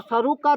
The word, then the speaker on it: सरुक: अब भ्रंश हो गया कोई सरूका बोल रहा है कोई सरू बोल रहा है पर सरू की ही सही ण होगा तो व